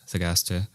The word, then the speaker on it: Thagaste: He grew up in Thagaste, I think is the way it's pronounced, Thagaste, which is a city in Numidia.